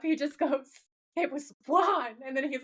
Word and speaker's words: Juan: Cuz when they were filming this episode, he pronounced it correctly like a Mexican accent is it's Juan, right? It's like an H W sound instead of just saying Juan.